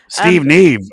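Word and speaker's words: Steve Nieve: so I'm assuming that's naive yeah I mean Steve Neeve what a great name but yeah this is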